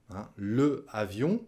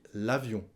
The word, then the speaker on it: l'avion: Le avion, on dit l'avion.